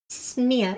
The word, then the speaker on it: Mia: Mia, how how do you pronounce the name? Mia. It's Mia because her sister's Maya, right?